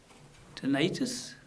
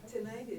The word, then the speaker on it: tinnitus: Tinnitus? Or how do you pronounce? Tinnitus. Either or, but tinnitus is the... Tinnitus or tinnitus? Tinnitus Whatever the pronunciation.